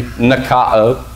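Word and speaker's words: νικάω: Nikeo. Nikeo. Alpha can be pronounced ah, so it could be nikao.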